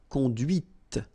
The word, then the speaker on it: conduit: C'est la voiture que tu as conduite. And that's when you hear the difference between conduit, because remember, final T is not pronounced, conduit here, and then the feminine, conduite.